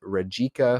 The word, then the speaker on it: Rijeka: Their recent results are a 1-0 win versus Bologna, 2-1 win versus Rijeka, I believe is how you pronounce that.